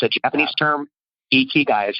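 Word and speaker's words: ikigai: on this but it's a Japanese concept called ichi guy and it's i ki GA i it's i ki GA i and it's a Japanese term ichi guys how you say it but it's a Venn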